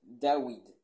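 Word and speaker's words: דוד: David signifie bien-aimé en hébreu, qui en hébreu est prononcé Dawid, avec un W, rappelant la grâce de Dieu qui élève les humbles.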